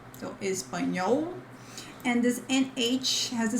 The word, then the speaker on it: espanhol: But in Portuguese, we have espanhol. Remember that in the end of syllables, this L has the sound of U, so espanhol.